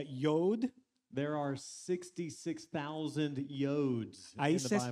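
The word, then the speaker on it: יוד: Aquí el texto en hebreo es una palabra que se pronuncia yod.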